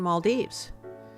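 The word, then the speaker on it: Malé: of the capital came it's pronounced as Mal M the pronunciation is not mal or mal or M the pronunciation the correct pronunciation of the capital of males is Mal okay so we'll go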